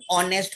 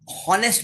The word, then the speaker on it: honest: Have seen, आप लोग हॉनेस्ट बोलते हैं. So many times, so many I have seen all my students and many people, they erroneously they speak honest. Friends, H is silent.